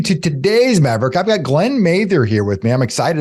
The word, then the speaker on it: Glen Mather: what do you do well my name is Glenn Mather as you said and you actually pronounced it right thanks Neil and the uh